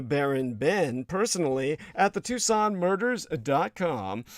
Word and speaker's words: Tucson: Ben personally at the Tucson murders. that's Tu s o n spelled like tuxen but put the word the in front of it the Tucson murders.